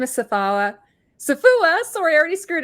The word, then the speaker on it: Safowa: So, it rhymes with Um, but even then, it's still a challenge.